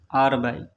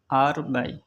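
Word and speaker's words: 二百: মনে মনে বলবেন বাংলা 200 চায়না ভাষায় উচ্চারণ হবে আর বাই আর বাই আর বাই 300 China ভাষায় উচ্চারণ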